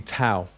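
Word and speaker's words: ταῦ: It's pronounced tau, not tor. Although when I was taught Greek, I was actually taught classical Greek. I had to learn Koine Greek later. We was taught tor, but it's actually tau.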